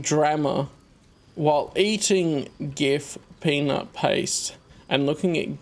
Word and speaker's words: GIF: would say it like GIF, not GIF. But because it's a graphics interchange format, well, you would pronounce the G like in graphics. Because it is an acronym.